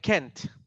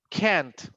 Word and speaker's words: can't: When you use can and can't, the pronunciation, for example, with the first one is just like this one. When you said can, no problem. But with the other one, a negative, you make like this one, like longer. Can't. It's can't.